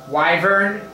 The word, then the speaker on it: Wyvern: Wyvern.